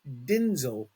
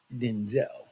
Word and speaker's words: Denzel: So all these years, who knew until recently that his name is actually Denzel, pronounced Denzel, not Denzel.